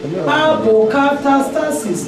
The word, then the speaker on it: apokatastasis: So apokatastasis. How Greek people they pronounce this word? Apokatastasis. Apokatastasis.